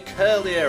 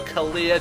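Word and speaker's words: Kirlia: we do take on a curlier or a career depending on your pronunciation which will use Calm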